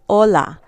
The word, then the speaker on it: hola: That's because the H is silent. Like in the word hola, we don't say hola. Okay, so when you see that H by itself, it is not pronounced.